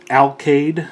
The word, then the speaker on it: Alkaid: with iron factory ifex34 alcade i believe is how it's pronounced otherwise known as helix